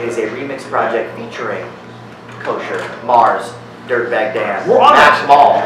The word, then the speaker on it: Koshir: K-O-S-H-I-R, right? K-O-S-H-I-R. Sure. E, I ain't worried about fucking you. Yeah, no girls here. That's all. It's actually pronounced Koshir.